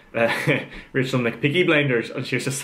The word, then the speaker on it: McPeake: So bring on Rachel McPeaker, surname is spelled M-C-P-E-A-K-E, right? So McPeak, and before I was like, just make sure it's not Rachel like McPeaky or something like that. She goes, no, it's definitely McPeak, because I want to